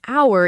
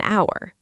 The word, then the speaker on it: hour: The H in hour is completely silent, so the word really starts with the vowel sound ow. That one silent letter is exactly why it becomes an hour.